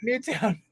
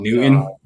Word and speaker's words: Newton: still wrote the wrong name oh gez not new town oh newon new town oh newron other than that you